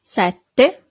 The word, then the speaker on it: sette: So you have a double T here. Sette.